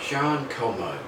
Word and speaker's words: Jeanne Calment: I'm going to talk today about Jean KMO. She was French, that's why we pronounce her name that way.